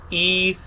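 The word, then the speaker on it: Ii: Now- How is that pronounced? Double E. So, E.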